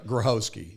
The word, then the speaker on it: Grochowski: tell us your last name it's uh grochowski grochowski c for us uh that's right enlightened guys we can't pronounce that big yeah it's good chicago name